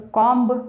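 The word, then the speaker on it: comb: तो कॉम्ब, बी हमारा silent होता है, हम कॉम बोलते हैं।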